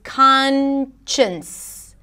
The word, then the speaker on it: conscience: the next word is conscience with an n sound khan the beginning is the same and then chins chins conscience is an inner guide